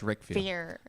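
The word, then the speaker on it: Riquewihr: It looks like Ribville, but it's pronounced Rickvier.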